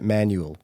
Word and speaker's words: Manueel: Now, it looks like Manueel, but I've watched videos of the brothers themselves talking about the brand, and they pronounce it Manueel. So that's how I'm going to pronounce it.